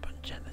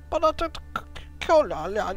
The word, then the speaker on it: Botanicula: Not Bungella, Cecil. Botanicula, yeah.